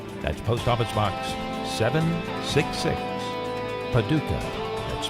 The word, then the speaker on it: Paducah: That's Post Office Box 766, Paducah. That's spelled P-A-D-U-C-A-H, Paducah, Kentucky 42002, USA.